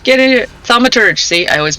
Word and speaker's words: Thaumaturge: Thermitage. Get in here. Thaumaturge. See? I always mispronounce that.